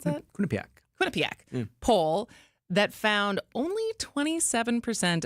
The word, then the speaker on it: Quinnipiac: And this morning I saw that there's a new Quinnip Quinnipak. Is that how you pronounce that? Quinnipak. Quinnipiac poll that found only 27% of voters support President Trump's big beautiful bill.